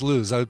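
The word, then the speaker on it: Lous: you lose in the I found out it's pronounced lose I saw one of her um YouTube videos and she introduces herself as lose I thought well it's French you got they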